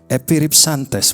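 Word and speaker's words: ἐπιρίψαντες: itu bacanya adalah epiripsantes.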